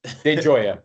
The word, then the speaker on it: De Gioia: De Gioia, but yeah, it's Enjoy it, perfect.